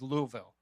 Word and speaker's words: Louisville: And as you know, our hometown, and I'm going to pronounce this right, is Louisville.